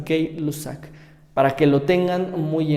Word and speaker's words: Gay-Lussac: Después tenemos la ley de Gay-Lussac, así se pronuncia, puede ser gay o puede ser gay, como a ustedes se les antoje, ambas pronunciaciones son correctas, Gay-Lussac.